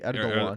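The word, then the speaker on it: Erdoğan: It's actually Erdogan. Erdogan. Yeah. Erdogan. Yeah. Yeah, that's the guy. The guy in the Trump video said Erdogan, and I wanted to say it's pronounced Erdogan, but he wasn't here. It was a video, so I had to shut up. Yeah, but it's Erdogan because the letter's silent.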